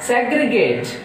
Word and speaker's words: segregate: And now coming to this side, segregate. What is this one? Segregate, so segregate, so 3 syllables, so that stress is on first syllable.